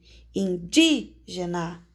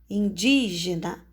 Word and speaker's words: indígena: força com mais entonação indígena indígena olha o som que sai da sua boca indígena o di é o som mais forte e a palavra que